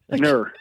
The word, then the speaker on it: Kerner: Kerner, Yes, yeah. Ner. The K is silent.